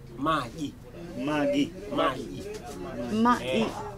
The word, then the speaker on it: maji: Magi. Magi.